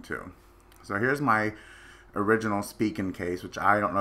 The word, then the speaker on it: Spigen: So here's my original Spigen case, which I don't know if anybody's ever